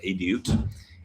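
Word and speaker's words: עדות: Now, edit is Hebrew for testimony, which is, it's actually pronounced edut, and it is a testimony means essentially like God's story in your life, or like the story that God is writing.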